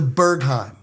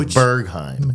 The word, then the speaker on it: Berghain: The Berghain. The Berghain. Berghain. In Berlin. In Berlin. It's spelled b e r g h a i n.